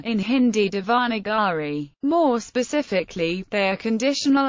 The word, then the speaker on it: Devanagari: The name of the script itself is pronounced Devanagari.